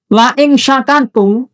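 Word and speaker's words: لئن شكرتم: La-nya orang pendek ya. Ini sungguh. Sungguh, beda dengan la panjang. Makanya bacanya jangan la salah. Lai pendek, sungguh. La nanti menjadi tidak.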